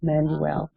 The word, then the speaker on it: Manuel: My grandmother's appellation is Manuel, Pauline E. Manuel, or Manuel. That's how she pronounced it, Manuel.